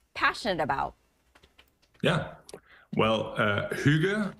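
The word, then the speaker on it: hygge: about yeah well uh Huga as it is pronounced in Denmark is actually uh uh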